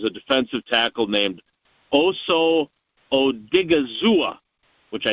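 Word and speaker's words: Odighizuwa: he mentioned is a defensive tackle named Oso Odigizua, which I it's a fun think name.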